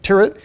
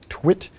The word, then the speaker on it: Tyrwhitt: our commander in game, Tyrwhitt, or Twit. Yeah, depending on how you pronounce it, there's many different pronunciations.